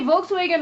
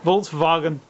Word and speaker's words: Volkswagen: speaking German is this I can't even say Volkswagen right Volkswagen yeah I couldn't even I mean w is a v in German yeah Volkswagen and then I don't